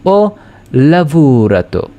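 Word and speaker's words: ho lavorato: এইচ এর তো কোন উচ্চারণ হচ্ছে না যার কারণে ও আমরা বলব ও লাভবুরাত।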